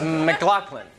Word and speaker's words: MacLachlan: Is your name pronounced MacLachlan? It's MacLachlan. It's close. It's Scottish.